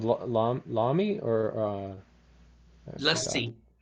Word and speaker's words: lassi: Lassi. Yeah, it rhymes And with your name.